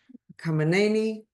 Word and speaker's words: Khamenei: Khamenei.